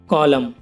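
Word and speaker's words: column: नहीं बिल्कुल शांत रहेगा फॉर एग्जांपल गाइस कॉलम अब इसमें देखो गाइस एम के बाद एन आया हुआ है तो एन साइलेंट है इसे कॉलम पढ़ेंगे गाइस इसकी हिंदी होगी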